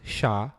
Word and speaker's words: SHA: for secure hash algorithm is pronounced sha and is in fact